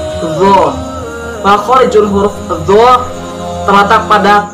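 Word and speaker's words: ظ: Yang ke-17 yaitu huruf dzu, pelafalannya dzu.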